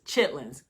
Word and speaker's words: chitterlings: So for example, I would spell the word chitterlings, chitterlings, but I know that the way you pronounce it is chitlins because I'm from the South.